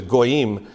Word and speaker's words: goyim: The word for Gentile or Gentiles in Hebrew is goyim, except he said, you can go back and find records. The way the Pharisees pronounced the word goyim, it was like they were spitting.